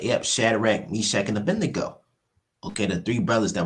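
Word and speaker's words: Abednego: Let me see. Abendo. Yep. I pronounced their name wrong, but yep. Shadrach, Meshach, and Abedneo.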